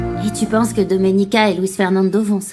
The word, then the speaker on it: Doménica: Tu as du mal à prononcer mon prénom. C'est Doménica. Non, Dominica, arrête de l'énerver davantage, tu vas Je vais découvrir ce qui s'est passé avec ce titre.